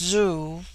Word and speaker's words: Zhu: is sucked Inward and thus Zhu pronounced Zoo which in their language is one letter is the ordinary prefix